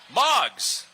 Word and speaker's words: MOGS: Coming up next is MOGS. It rhymes with dogs.